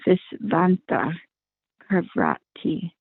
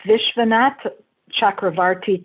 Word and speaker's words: Vishwanath Chakravarti: An example is given in this connection by Visvanta Chakravarti. That's Vishwanath Chakravarti Thakur.